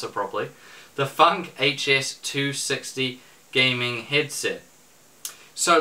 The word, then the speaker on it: Func: yes I learned how to save properly or pronounce it properly the funk HS 260 gaming headset so let's jump right